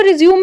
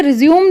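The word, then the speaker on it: résumé: और दूसरे वाला जो रिज्यूम उसे रिज्यूम लोग कह देते हैं लेकिन यह गलत है एक्चुअली उसे रेज्यूमे कहना चाहिए यह होमोग्राफ्स है स्पेलिंग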